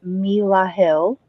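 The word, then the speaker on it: Melahel: the four of cups the angel name is Mila Hill and that's spelled m-e-l-a -h-e-l um that is the god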